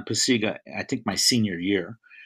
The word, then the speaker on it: Pacyga: a joke um and nobody could pronounce my name well paycheck bakuga pakaya pataka it was just just a mess so we finally settled on pasega i think my senior